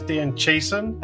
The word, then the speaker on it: Dan Chiasson: I'm going to try and pronounce your name is Dan Chason.